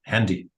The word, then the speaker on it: Handy: But we also pronounce it like it's English. Handy, not handy.